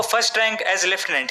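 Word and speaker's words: lieutenant: जिनमें आते हैं लूटने इसे अब लेफ्टिनेंट भी प्रोनाउंस किया जाता है इसमें कंफ्यूज होने की जरूरत नहीं है बेसिकली अमेरिकन इंग्लिश में इसे एज लूटने प्रोनाउंस किया जाता है और ब्रिटिश इंग्लिश में लेफ्टिनेंट इसलिए सभी कॉमनवेल्थ कंट्रीज में इसे एज लेफ्टिनेंट प्रोनाउंस किया जाता है एंड फॉर the same reason India में भी लेफ्टिनेंट ही बोला जाता है लेफ्टिनेंट को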